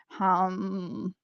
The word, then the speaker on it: ham: So the seed, or the mantra for this is ham. Okay, so pronounce hum.